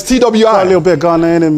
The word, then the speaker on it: Twi: speak what did you call it uh tweed tui is that correct ghanaian people tree tree well it's twi a little bit ghanaian and me see kelewela